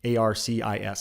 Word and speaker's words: Arcis: This is a company called Arcis, A-R-C-I-S. I believe it's pronounced Arcis.